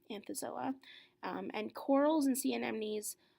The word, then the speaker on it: Anthozoa: corals and these are in the class it's pronounced anthozoa anthozoa and corals and sea enemies are in this